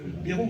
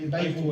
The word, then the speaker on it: Bayrou: donc il s'appelle Bérou, quand en français on dit Ouais. Bérou. Oui, Ouais. Et lui, il faut qu'on prononce Bayrou, comme Oui. quand il est arrivé. Ouais, Bayrou, ouais.